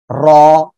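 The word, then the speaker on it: ر: ওকে, এই যে অক্ষরটা, এ অক্ষরটা উচ্চারণ হবে জিব্বার আগার পিঠ, এই যে জিব্বার আগার পিঠ, তারপর আবার উপরে তালুর সঙ্গে লাগিয়ে র, এরকম মোটা আওয়াজে উচ্চারণ হবে।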